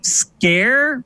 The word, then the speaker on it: Sker: Apparently, unfortunately, Marcus Beer isn't here to correct us on this, but apparently Sker, S-K-E-R, is pronounced scare in Wales. I don't know, but the correct pronunciation is Maid of Sker.